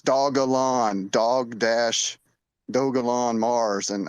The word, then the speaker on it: Dogelon: their dm and uh tell them it's dog alone dog dash dogalon mars